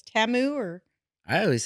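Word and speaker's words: Temu: realized this Super Bowl it's not pronounced teu it's TAMU or I always say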